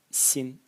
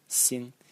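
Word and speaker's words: 心: And the semantic element is this part over here, pronounced xin, xin, and its meaning is heart.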